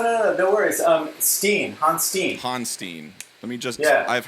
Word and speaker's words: Honstein: seen it in a million different ways so hanstein i appreciate you clarifying that for me yeah